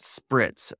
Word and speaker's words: Spritz: Did I spell it wrong? Brits or Spritz? Spritz.